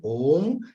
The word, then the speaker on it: Om: Chanting Om, chant all the 3 syllables, A, U, A and U becomes O. So you chant Om, elongate the Om, half of O, and then remain quiet for a few seconds.